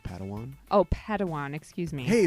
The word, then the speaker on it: Padawan: It's pronounced Padawan.